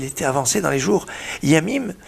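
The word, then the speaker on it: ימים: Yamim, ça s'écrit Yud Mem, Yamim. Yamim, pas Yamim, attention, il ne faut pas mettre des dagues, pas, parce que Yamim c'est les mers, Yamim c'est les jours.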